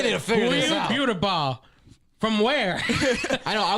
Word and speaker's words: Buterbaugh: There's some of them that actually spell it with 2 T's. Like you, Butterball. You're one Butterball. But we like say Buterbaugh.